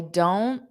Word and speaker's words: don't: I don't. Notice that T is not pronounced as don't because we don't want that puff of air. So I don't, just a flap T, which means you